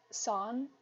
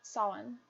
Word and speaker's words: Samhain: I I know that it's called it's pronounced son, in kind of the Celtic pronunciation. Uh, so I'm going to pull that up. Um, yeah, Samhain.